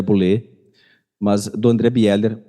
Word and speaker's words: Bieler: de Calvino, do André Bieler. Vocês já ouviram falar que a pronúncia certa seria André Boulé, mas do André Bieler,